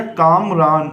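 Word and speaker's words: کامران: अब जब हम इसकी हिज्जे करेंगे तो काफ अलिफ मीम काम, रे अलिफ नून साकिन, तो पढ़ा गया कामरान। इसी तरह से आपको पढ़ना है कामरान।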